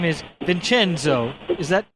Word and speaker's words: Vincenzo: But his name is Vincenzo. Is that pronounced your name?